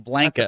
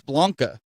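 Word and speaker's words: Blanka: they call them Blanca they call them blanket that one blanket yeah but it's but it's Blanca if you if that's that's technically how it's pronounced now I know some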